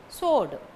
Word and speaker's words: sword: last n is silent sword s w o r d sword w is silent resign r e s